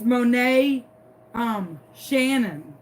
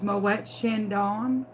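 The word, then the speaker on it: Moët & Chandon: Like, it's Monet Shannon. I'm like, you mean it's Moet Chandon?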